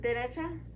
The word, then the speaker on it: derecha: Derecha? Derecha. Right. So you know how derecha, you hear more of the pronunciation of the D, Yeah.